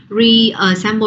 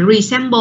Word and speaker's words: reassemble: Cho nên khi mình đọc á reassemble chứ các bạn không đọc là resemble luôn, không phải.